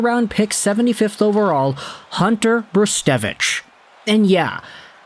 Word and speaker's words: Brzustewicz: pick 75th overall Hunter bristevich and yeah it's spelled weird but we're gonna go with brustevich because that's how all the OHL commentators go out there and say it this is a really